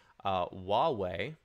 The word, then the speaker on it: Huawei: So I literally Googled how to pronounce this, and it's actually Huawei would be the proper way.